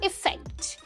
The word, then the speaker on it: effect: अगले दो वर्ड्स हैं अफेक्ट versus इफेक्ट। अफेक्ट versus इफेक्ट, ठीक है, थोड़ा सा डिफरेंस है प्रोनाउंसिएशन में, ध्यान से सुनना।